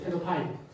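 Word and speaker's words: pedophile: 페도필리아라고 그러는데, 영어로는, 영어 자막에서 페도파일이라고 발음하는 걸 들을 수 있어요. 페도파일.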